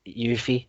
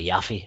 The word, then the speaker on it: Yuffie: There is other bits and pieces that they've admitted, like you have to get Yuffie. I call it Yuffie. Everyone reckons it's Yuffie. It's pronounced.